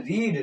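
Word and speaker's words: read: क्योंकि रीड की बेटा तीनों फॉर्म क्या होती है? स्पेलिंग में वही होती है। लेकिन बोलते हैं रीड रेड। रेड बोला जाता है बेटा।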